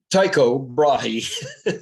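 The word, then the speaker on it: Tycho Brahe: we go okay uh Tao brahi the way we pronounce it not the Danish uh he was given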